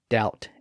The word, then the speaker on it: doubt: their original Latin pronunciation that gave English quite a few silent P's and B's like the p in receip and and the bees in doubt and debt but John Hart hated